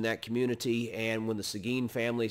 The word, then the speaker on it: Seguin: One family name you probably ought to remember is the family Seguin. It's spelled S-E-G-U-I-N. Seguin, Texas is named for one of the boys in that family, Juan Seguin.